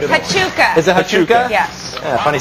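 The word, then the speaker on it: Huachuca: I have no idea how to pronounce it. Hachuka. Is it Hachuka?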